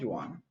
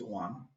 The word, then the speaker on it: Juan: the extreme left of Juan it's not Juan it's one J is silent so Paul is to